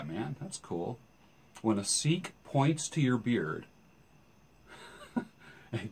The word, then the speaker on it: Sikh: either so a couple seeks are walking down the hall in the mall this sounds like a joke two seeks walk into a bar two seeks it's spelled s i k h seek and they're walking past